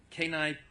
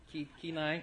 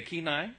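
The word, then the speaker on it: Kane: And she comes to us all the way from Kine, Pennsylvania, Alaska. Did I say it right? K9. Okay, K9.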